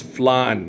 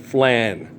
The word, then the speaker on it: flan: And it's flan, not flan. Okay? That's how we say it in espanol. It's flan. Okay? And it's very good. It's not flan.